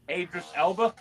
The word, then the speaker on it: Idris Elba: Idris Elba?